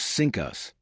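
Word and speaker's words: CINCUS: The pronunciation of sinus was sinkus. Think about that for a second. The guy in charge of the entire US Navy had a title that literally sounded like sink US Reich when the Japanese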